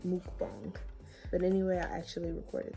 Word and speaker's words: mukbang: But I recorded like it's pronounced mukbang, but anyway, I actually recorded that.